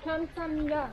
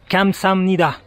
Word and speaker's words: 감사합니다: On dit 감사합니다. Non, pas le G, ça prononce 감사합니다. Ah, pardon. 감사합니다.